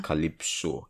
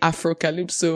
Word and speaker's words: Africalypso: Africalypso. Did I pronounce it well, I beg? Yeah, you actually did. I have a lot of people say Afrocalypso or Afropocalypse.